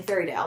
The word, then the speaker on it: Fairydale: to the funeral in Fairydale, which Fairydale rhymes with fairy tale, how bad could it really be?